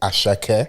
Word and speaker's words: Asake: I don't want to pronounce it, but she's like, no, it's Ashake. Yeah, that will keep you on point. Yeah, Asake.